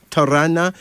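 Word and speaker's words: Tarana: tamasha then there's uh Tana Tana t a r a n a pronounce Tana this is from the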